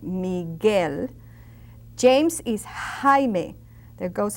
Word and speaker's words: Miguel: Michael is Miguel. Now that U is very silent when it's a G and a vowel next to it. Miguel, not Miguel, but Miguel.